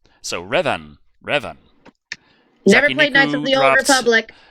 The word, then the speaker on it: Revan: Okay, Creed Nation dropped $4.99 saying no Revan, as in the one movie Leonardo DiCaprio was in called The Revenant, just with an A. Any Old Republic fan would know how to pronounce it. So Revan.